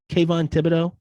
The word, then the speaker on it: Kayvon Thibodeaux: ended up getting um oh how do you pronounce his name thibodeaux kayvon thibodeaux yup that's how you pronounce the name kevon